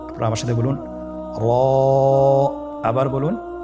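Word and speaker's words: ر: পড় করে উচ্চারণ করব মোটা করে উচ্চারণ করব এবং র হরফটি এক আলিফ টেনে পড়ব আপনারা আমার সাথে বলুন র আবার বলুন র এর মাখরাজ কোন জায়গা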